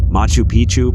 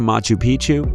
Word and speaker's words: Machu Picchu: machu picchu peru when a place rhymes with picture you can almost bet